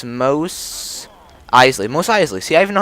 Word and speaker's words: Mos Eisley: Mos Eisley. See, I even know how to say it. That's so good that you know how to say that. Mos Eisley.